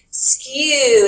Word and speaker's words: skew: that word is skew there's no r in it yesterday people were trying to add an r that doesn't exist skew is how you say it skew lines this might